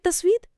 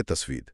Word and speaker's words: تسوید: جی، یہ انوار نہر تسوید کے ذریعے منتشر ہوتے ہیں، نشر ہوتے ہیں۔ نہر تسوید، اس کا صحیح تلفظ یہی ہے، نہر تسوید؟ جی ہاں، نہر تسوید۔ تسوید کا لفظ سیاہ رنگ سے ہے۔ سیاہ؟